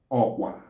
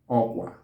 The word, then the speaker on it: okwa: So in Igbo, it's called okwa. Okwa.